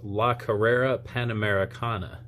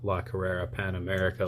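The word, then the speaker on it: La Carrera Panamericana: it right this time it's la herrera pan americana not lock herrera pan america like i was saying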